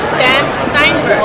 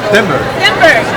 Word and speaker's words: Stenberg: This is Ari, and I'm here with Sebastian, and he's going to talk about this book that he's collaborating with Amanda Steinberg, right? Stenberg.